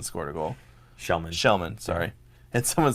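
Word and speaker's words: Kellman: I mean, even Melker was a +1 because Kelman scored a goal. Shellman, sorry. And someone said that, why is it pronounced Shellman when it's Kelman? It's Swedish.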